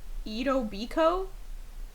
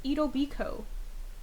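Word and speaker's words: Etobicoke: suburb in Toronto pronounced Ito Biko what what it's Ido Biko even though the last part is called Coke it's Ido Biko okay another Sandra the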